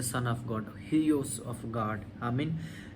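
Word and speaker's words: υἱός: सो Greek लफ्ज़ जो बेटे के लिए इस्तेमाल हुआ है वो है Hughes, HUIOS, Hughes, HUIOS, Hughes. It's a little bit pronunciation difference होगा लेकिन आई can repeat the spelling, HUIOS, सन।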